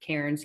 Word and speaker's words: Cairns: And we went up to, you'll know how to say it, Cairns, Cairns. How do you want to say it? Hands. Cairns. I always say Cairns and everyone corrects me, but they're not Australian.